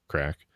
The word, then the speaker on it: craic: was developed while living in Ireland uh crack pronounced crack is an Irish word for epic times and